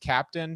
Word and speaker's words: Keptn: advocate over at dynatrace who works on the captain project i've also heard that it's supposed to be pronounced captain depending on where you're from but i'll let